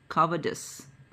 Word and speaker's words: cowardice: A soldier must show courage in war, not cowardice. Look at the pronunciation of this word. It is cowardice. C-O-W-A-R-D-I-C-E. Cowardice. How can you read this boring book?